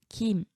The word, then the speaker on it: 김: 자, 보면은 무, 김, 뱀, 샘 이런 단어는 지금 준말이 표준어가 되면서 장음이 돼요. 그래서 이름절 단어는 되게 긴 소리로 발음합니다.